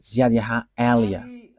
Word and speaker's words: YAHVAH Eliah: that is my name, so I pronounce it as my father pronounced it, YAHVAH Eliah.